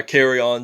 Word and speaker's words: Kerryon: It's kind of like, I like that, how you pronounce it. As like when you're outside in the hallway at school and then the principal kind of interrupts and then afterward they say carry on.